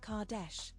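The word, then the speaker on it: Qetesh: We know about ISIS but her name is pronounced Kardesh. Kardesh.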